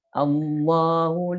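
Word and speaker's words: الله: mengawalinya dengan setiap dibaca contoh misalnya dalam kalimat Allohu laa illa allohu kan saya mau mulai dari situ amoh dibacanya begitu allohu seperti mau ke tetapi tidak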